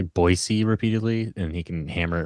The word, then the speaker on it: Boise: Orange County Soccer Club players that uh AC Boise has uh like a a roster of some